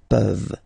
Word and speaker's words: peuvent: Okay, as usual, this ending, this ENT ending, you write it, you don't pronounce it. Okay, peuvent, peuvent, peuvent.